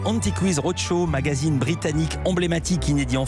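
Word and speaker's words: Antiques Roadshow: Anti-Quiz, ça se prononce à l'anglaise. Anti-Quiz Roadshow, magazine britannique emblématique inédit en France.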